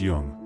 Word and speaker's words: Jung: Jung, pronounced Jung, not the way most men say it, which tells you something